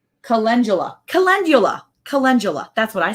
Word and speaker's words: Calendula: Calendula. It's just like it's spelled.